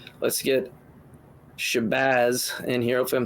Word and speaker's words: Shabbaz: For starters, you all are pronouncing it properly. It is Shabbaz.